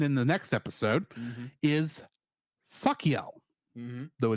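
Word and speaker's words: Sachiel: this episode and in the next episode is sakel MH though it's spelled s a s a c h i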